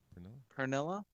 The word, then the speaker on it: Pernilla: Pernilla? Pernilla. Mhm. Like P-E. Let me spell it because I don't have it up on my phone yet because I'm texting Oh. right now. Pernilla. P-E-R-N.